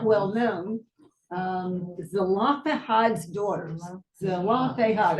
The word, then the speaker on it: Zelophehad: Zelophehad. That's four syllables.